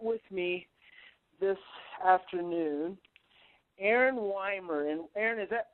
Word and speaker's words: Wiemeier: oh close it's a big old German name weer we the eye is silent in German so all right well okay Mr Aaron weer and Aon and I have been trying to